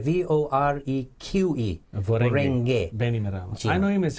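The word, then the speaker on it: Voreqe: Can you spell it? Vorenge. V-O-R-E-Q-E. Vorenge Bainimarama.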